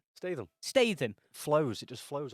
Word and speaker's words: Statham: It's Statham. You had to mispronounce it, didn't you? Yeah, You of knew course that was I- coming. Tell us how you really say it. Statham.